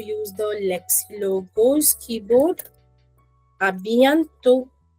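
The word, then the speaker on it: à bientôt: A bientôt. A bientôt is called see you soon. A bientôt. A bientôt. Correct. Again, over here if you see I am not pronouncing the last letter.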